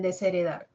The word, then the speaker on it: desheredar: H no suena en desheredar no decimos voy a desheredar desheredar sería entonces la H no cuenta la H no cuenta